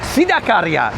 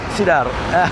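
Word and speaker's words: Sidakarya: Oh, Sidarkarya, not Sidar. Sidarkarya. I was getting pronunciation wrong.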